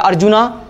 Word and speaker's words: अर्जुन: जैसे अर्जुन या अर्जुना, है ना, इंग्लिश में ए साइलेंट ही होता है नॉर्मली, जब एक नेम के पीछे होता है तो अर्जुन ही बोलूंगा।